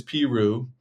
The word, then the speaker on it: Peru: Uh Peru is Peru.